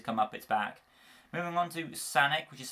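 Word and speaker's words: Sanek: Moving on to Sanic, which is spelled S-A-N-E-K, also known as Kensa, obviously.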